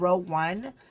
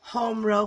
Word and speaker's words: Home Row: I think I said row one the last time. It's actually Home Row Fiber Company is the company that makes this bag.